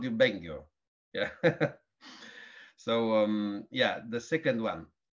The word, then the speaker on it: Bengio: Bengio. Bengio. Okay, so I was right. Yes, Yes. I've heard it. I should tell the BBC off then. They called you Bengio.